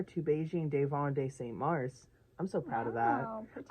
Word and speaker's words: Mars: It's Mar, not Mars, but Mar. just don't pronounce S. Mar.